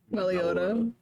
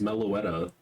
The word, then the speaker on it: Meloetta: I mean close all wrong emphasis on on syllables there. It's meloetta. Meloetta. Like melod.